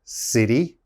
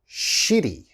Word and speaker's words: city: at the first one the first one is city okay city city you have to pronounce that city and a lot of my students say shitty okay you don't want to say shitty it's